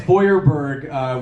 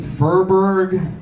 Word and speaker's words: Feuerberg: In German, it's supposed to be pronounced Feuerberg, which means Fire Mountain, which is kind of like a tough, cool name. Somehow, when my family immigrated to America, it became Feuerberg.